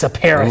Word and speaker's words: Tsaparis: But right now, it's time to talk all things science, but shh, the T is silent. This is Tsaparis Science.